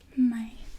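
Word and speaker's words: Mei: and I just like to spend it differently my and then June is unique because it's kind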